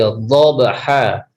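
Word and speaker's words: ضَبْحًا: Makanya bo ini sifatnya tebal ketika diucapkan. Lo, dhi, bo. Seperti itu ketika kita mengucapkan wal adiyati dhabha, bukan do.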